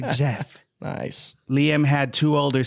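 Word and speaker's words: Geoff: o FF g off yeah that's how we pronounce it but they they say Jeff nice Liam had two older sisters named Nicola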